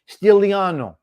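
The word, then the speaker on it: Stigliano: Stiliano. Stigs, Stiliano. The G is silent in Italian.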